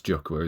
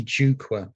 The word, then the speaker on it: Jukwa: doing currently, and that's Jukhwa, isn't it? Is that pronounced right? Nearly right. And it's quite often pronounced like that, but it's really Jukwa, and it means platform in Swahili.